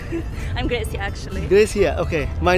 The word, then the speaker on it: Gracia: तो यहाँ पे ना भाई एक normal stranger से मैं बात कर रहा था, Gracia, right? Gracia, yeah, you're saying it right.